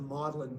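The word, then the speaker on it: Magdalen: different faculty um he he was at it's pronounced modelin College uh modeling College uh is on the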